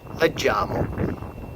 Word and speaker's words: leggiamo: So take note here of the soft G sound, okay, for first person plural and second person plural, right? Noi leggiamo. So it's G-I, right, or G-G-I. Noi leggiamo, maintaining that soft sound.